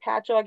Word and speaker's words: Patchogue: If you're going to try looking up the word Patchogue, it's spelled like Pachogi. Doesn't look the way it's pronounced.